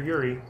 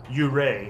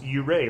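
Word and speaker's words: Yurei: gin mare shade or yuri oh i'm we've been pronouncing that wrong by the way it's actually yuray blu-ray looked it up and found out it's you ray like lou ray but you ray okay then i mean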